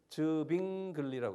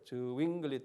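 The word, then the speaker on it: Zwingli: 근데 이 칼빈의 영적 임재설도 또 탐탁지 못해가지고 그것 때문에 가까이 있는 또 분하고 다툼이 저빙글리라고 그래요. 저윙글리 또는 빙글리, 이 독일 말로 하면 W가 V 발음하거든요. 저빙글리라는 유명한 사람인데요.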